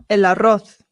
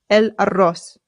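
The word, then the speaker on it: el arroz: Eloth. Eloth. Remember that the double a in Spanish is rolled. So, and the zed in Spain Spanish makes the th sound.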